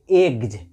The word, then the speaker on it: eggs: जी आ जाएगा तो यहाँ पे एस का उच्चारण ज होगा। तो EGGS, तो इसको पढ़ेंगे एग्ज, AGG को तो आप एक पढ़ते हो, अंत